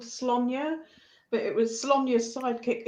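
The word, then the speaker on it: Sláine: Thinking about mine, I don't know if you've ever heard of a story called Slonya, but it was Slonya's sidekick Uko. You pronounce it properly. Yeah, I still call it Slain.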